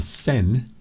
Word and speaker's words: Seine: And it turns out that the River Seine, or the Seine, as some people pronounce it, is a little bit dirty.